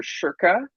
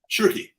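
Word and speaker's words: Schoerke: other poets, and Meg, is it Shirky or Shirka? Shirky is the way she pronounced it.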